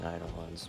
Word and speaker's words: Eidolon: I prefer saying Eidolons, but I'm not afraid of I'm you.